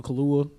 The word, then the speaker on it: Kaluuya: Daniel Kaluuya. Did I pronounce his name right?